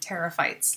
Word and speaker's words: pterophytes: dinosaur the flying dinosaur you don't pronounce the p so here it's the same thing terophytes like a pterodactyl um